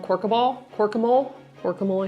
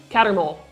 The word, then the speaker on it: Cattermole: Corbin Yaxley, Albus Runcorn, Mathilda Hopkirk, and Reginald Corkemole, I think is how you say it. Cattermole.